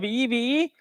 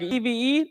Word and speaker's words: EVE: a better understanding of evee we are evee please pronounce like evee not eve we are group companies